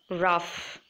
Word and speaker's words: rough: must have come across laugh rough where you have to pronounce it as F in the end next look at the